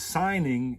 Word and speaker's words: signing: You could almost say I sold my soul, because signing is a contract. You signing, S-I-G-N. Remember that G is silent, and it's not sign, it's sin. You're sinning.